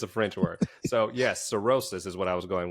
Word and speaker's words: cirrhosis: Cirrhosis.